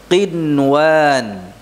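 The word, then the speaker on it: قنوان: Contoh, qinwan. Apa? Qin, jelas, qin. Ya. Qinwan. Sinwan. Sinwan, ya, bukan sinwan, bukan sinwan. Nun sukunnya dibaca dengan jelas. Walaupun bertemu dengan waw, namun pertemuannya di dalam satu kata.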